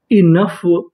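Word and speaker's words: enough: इ एन इन यू जी एच फ ओ silent रहेगा। इनफ इनफ इनफ का मतलब होता है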